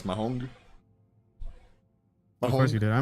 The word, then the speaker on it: mahjong: Do you know how did you know that I used to say mahjong as mahong? Of course you did. I mean, that's a Spanish like thing, right? Like your brain would just naturally incline. Mahong.